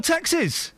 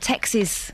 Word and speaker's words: texts: After the grief Iain and Kath gave him yesterday over his pronunciation, note to Iain, text, plural, is texts, not texes.